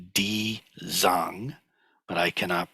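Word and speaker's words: 地藏: And this is the Chinese, so Jijang, or it's in Mandarin Chinese, it's pronounced something more like Di Zang, but I cannot pronounce Mandarin, so don't quote me on that.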